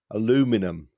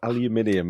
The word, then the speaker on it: aluminium: challenging for me and Langdon to agree on pronunciation. They invented the process for smelting aluminum, or aluminium, as we would say in the UK.